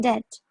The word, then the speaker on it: debt: In debt. Notice that the B is silent.